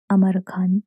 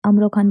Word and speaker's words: अमर खान: अमरो खान बार-बार प्रोनाउंस हो रहा है, लेकिन सही जो प्रोनाउंसिएशन है वो अमर खान है।